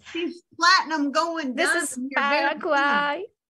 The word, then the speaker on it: Paraguay: Yeah, she'll help me on the pronunciation. Yes. Hello. Hey, there she is. She's platinum going. This is Paraguay. Paraguay.